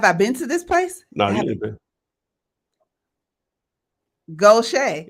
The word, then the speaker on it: Gautier: see okay have I been to this place go Shea it's Goshay and what did I say uh go to